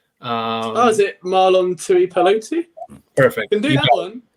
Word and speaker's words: Marlon Tuipulotu: Yeah, I'm not even trying to pronounce the rookie's name. Is it Marlon Tuipulotu?